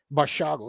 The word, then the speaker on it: Basiago: Now, Basiago was a child at the time according to his Bashago is how you pronounce it.